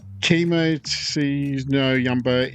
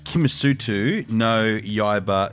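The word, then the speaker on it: Kimetsu no Yaiba: Demon Slayer, Chemo no Yumba, Infinity Castle. I'll give you 2 out of 5 for that. That's wasn't great. Demon Slayer, Kimisutu, no Yaiba, Infinity Castle.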